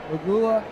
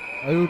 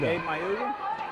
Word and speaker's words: Mauga: Mauga. Gabe Mauga. I added an L there the first time I pronounced the name.